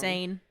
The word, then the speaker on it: Seine: It's pronounced as Seine. We kept saying it wrong. Seine.